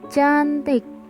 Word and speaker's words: tjantik: Ciri yang keempat, huruf TJ yang dibaca C. Contoh, pada ejaan TJANTIK dibaca cantik. Pada ejaan ATJAK dibaca acak.